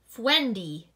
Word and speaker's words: Friendy: She called him her Friendy, which came out pronounced Fwendy. Now you know!